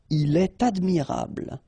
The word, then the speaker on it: il est admirable: elle est, okay, then definitely you should make the liaison if you've got something after. So like here, for instance, il est admirable, il est admirable, okay, elle est intéressée, all right, so in all these cases, you should make the liaison, and in that case, it's with T.